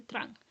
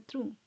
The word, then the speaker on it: Trung: Me acabo de dar cuenta que en todo el video dije tran. Pero debe ser trun por cómo se pronuncia en español.